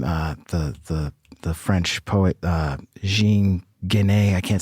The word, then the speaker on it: Jean Genet: The French poet, Jean Genet. I can't say it the correct way. Jean Genet? Jean Genet, yeah.